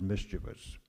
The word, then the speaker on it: mischievous: it's just a very common mistake that is made in our society but the word is mischievous three syllables okay uh would you